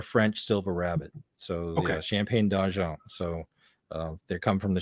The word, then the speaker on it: Champagne d'Argent: They're called Champagne d'Argent rabbits. So you have to say that with your nose in the air and say it like you're from the other side of Canada.